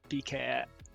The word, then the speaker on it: Bikéyah: Okay, Diné, Bikéyah. Okay, thank you, Amatis. I butchered that.